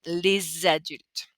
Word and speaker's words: les adultes: Les adultes would be weird, but we have that silent S. This S is not pronounced normally. Les parents. But here we're going to bring out that sound to make a transition sound. Les adultes.